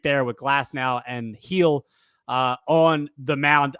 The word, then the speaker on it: Gil: You got a treat there with Glass now and Heel on the mound. I did say Luis Heel's name right? Correct? Yes. It's right. I know it's not Gil because that's disrespectful to the Spanish people.